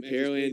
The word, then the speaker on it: Pearland: of people curious about the pronunciation that pear land the land where they grow pears it's easy way to think of it it's not where they have pearls there's no lake